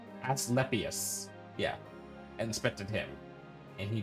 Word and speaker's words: Asclepius: Lord Asclepius. Nah. No, I'll say it right. Asclepius.